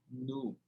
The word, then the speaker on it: new: Vão lá e vocês vão ver que a pronúncia é new. I have a new car. Eu não tenho I have a new car. Então quer dizer que o E mais W tem som de U.